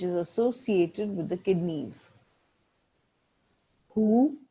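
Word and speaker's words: 呼: Hu, pronounced like hu, which is associated with the spleen.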